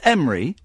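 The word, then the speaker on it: Emre: Is your name Emery? Yes, hello, Ian. There we go. Did we pronounce that?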